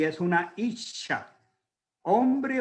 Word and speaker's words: ish: Esa palabra es ish. Hemos hablado otras veces de la palabra ish. Se escribe o se translitera sencillo como una I de puntico, como decimos, una S y una H.